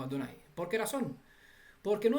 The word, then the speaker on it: Adonai: la forma cuadritera y esta forma la pronunciamos como adonay siempre que aparece este texto donde están las cuatro consonantes lo leemos como adonay porque era son porque